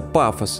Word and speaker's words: Pathos: Действие игры разворачивается на отдаленной подводной исследовательской базе Патос 2, которая на самом деле читается пафос, но, как сказали на Stop Game, это слово в русскоязычной среде имеет слишком выраженный эмоциональный окрас, поэтому лучше Патос 2, где машины начинают обретать человеческие черты.